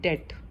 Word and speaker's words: debt: उसके बाद नेक्स्ट जो टर्म बैंक से रिलेटेड होती है वो होती है डेट। डेट मीन्स कर्ज लेना, DEBT। यहाँ बी साइलेंट रहता है।